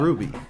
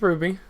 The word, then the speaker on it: RWBY: likes what is it is it ruby or rwby what what exactly how do you say that ruby is how you say it yeah it's ruby what an idiot what's